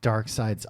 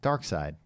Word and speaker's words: Darkseid: He's like Darkseid's uncle, I think.